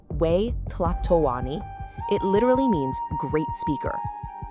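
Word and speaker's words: Huey Tlatoani: The Aztecs called their emperor the Hi Platlani and that's pronounced we tatawani.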